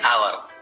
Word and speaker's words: hour: An ant, an enemy, an ice cream, an orange, an umbrella, an hour. Notice the word hour. As H is silent here, hour starts with a vowel sound.